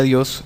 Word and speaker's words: Dios: De hecho, la palabra española Dios es idéntica en pronunciación a la griega Dios, forma genitiva de Zeus, el principal dios de la mitología griega.